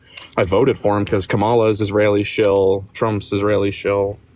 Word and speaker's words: Kamala: shill, but like I voted for him because Kamala's Israeli shill, Trump's Israeli shill. Kamala is how you pronounce her name.